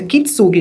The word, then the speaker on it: Kintsugi: Me ajuda essa pronúncia. Kintsugi, não é?